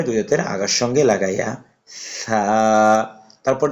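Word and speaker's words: ثاء: এই হরফটি উচ্চারণ হয় তা তারপর হরফটি আমরা উচ্চারণ করব এই হরফটির নাম হচ্ছে ছামবার আগার সামনে উপরে দুই হাতের আগার সঙ্গে লাগাইয়া ছা তারপর যে হরফটি আছে এই হরফটির নাম হচ্ছে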